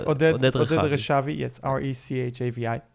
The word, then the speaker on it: Rechavi: Yes, R-E-C-H-A-V-I. Right, okay. You pronounce it in English, Rechavi.